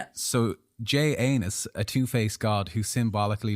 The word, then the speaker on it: Janus: This new date honored Janus like anus with a J. A two-faced god. That's how it's spelled. I'm just because my pronunciation might be love. Yeah. So J anus, a two-faced god who